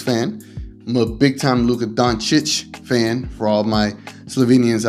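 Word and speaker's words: Dončić: I don't know how he says it, but the way he says it is horrible. So it's Doncic.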